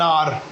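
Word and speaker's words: hour: Before words beginning with silent H. कुछ words जैसे जिसमें साइलेंट एच होता है, जैसे एन आर, N honourable man, एन एयर, an honest man. तो ऑनेस्ट, एयर, ऑनरेबल, आर, ये वर्ड्स ऐसे जिनके सामने एच तो आता है लेकिन ये साउंड साइलेंट होता है.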